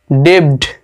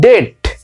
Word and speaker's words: debt: তারপরটা দেখো DEBT, ডেবড, DEBT ডেবড হয় কিন্তু উচ্চারণটা হবে এরকম যে DET, ডেট, অর্থাৎ বি এখানে উচ্চারণ করা যাবে না, ডেট, ডেট মানে হচ্ছে